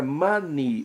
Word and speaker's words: money: Não, já falei, é money, ou seja, não é money. Então a A está errada. Já na segunda opção, a pronúncia do EY na palavra money corresponde a I em português, esta é a correta.